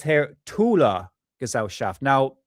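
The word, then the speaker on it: Thule: And it says here Tula Gazelle shaft. Now people pronounce that as thul, but the pron real pronunciation for it in German is tula.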